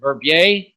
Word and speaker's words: Verbier: But normally you two find yourself in, where is it, Verbier? Is that correct pronunciation, Switzerland?